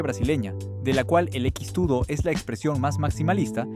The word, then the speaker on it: X-tudo: X-tudo es brasileño, y la X en el nombre se pronuncia cheese. Viene de la aproximación portuguesa de la palabra inglesa cheese.